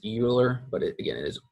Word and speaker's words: Euler: chapter is focused on something that we call Euler's form them so yes it looks like it's would be pronounced Euler but it again it is Euler it's not